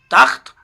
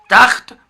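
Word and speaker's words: تخت: तख्त यानी बेड, इसका प्रोनाउंसिएशन तख्त है, तखत प्रोनाउंसिएशन तखत तलफ़ुज़ करना गलत है।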